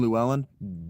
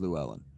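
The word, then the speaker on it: Llywelyn: Uh the ll is not pronounced or like uh it's not pronounced like Spanish, French or English. So that name Luwellyn definitely not pronounced Luwellen.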